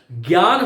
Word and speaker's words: ज्ञान: खैर, तो उच्चारण, इसका विशुद्ध जो उच्चारण है वो क्या होना चाहिए, बोलो, ज होना चाहिए। और यही कारण है कि मेरे मुख से आप कभी भूल से भी ज्ञान शब्द का उच्चारण नहीं सुनोगे। ज्ञान, विज्ञान, अज्ञ, विज्ञ, सुविज्ञ, ये जितने भी शब्द हैं उनको मैं ज के रूप में बोलता हूं, और बहुत सारे लोग बोलते हैं।